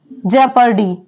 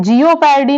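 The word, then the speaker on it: jeopardy: करते जैसे वर्ड है जे पर्डी इसे जे पर्डी पढ़ते हैं जिओ पर्डी नहीं पढ़ते जे पर्डी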